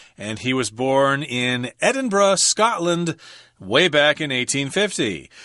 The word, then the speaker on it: Edinburgh: word Edinburgh of course you're gonna think Oh Edinburgh I've heard of Pittsburgh I've heard of Emmitsburg but in Scotland you're supposed to say Edinburgh I can't think of any other place where